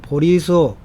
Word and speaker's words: 보리수: 그러기를 6년 후에 결국 보리수, 이게 보제수라고 되어 있죠. 본래 중국 한자로는. 그런데 이게 그 한국 불가에서 이 발음이 좀 보제수라고 하는 발음이 별로 안 좋아서 우리 한국 불교에서는 보리수로 읽는다고 합니다.